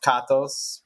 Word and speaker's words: Katos: Yeah, well, actually, it's technically pronounced Katos because I'm Greek, but it's the Americanized version is Katos.